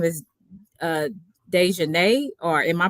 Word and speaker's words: Da'Naia: both of, I think her name is uh, Dejanay, or am I pronouncing it correctly?